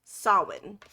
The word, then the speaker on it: Samhain: And it's spelled Samhain, but it is pronounced Samhain.